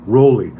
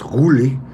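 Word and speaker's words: Roelly: been not rami god we're like rolly you guys love to correct me it's huli i've heard his family say it that's how you say it in corsail because his real name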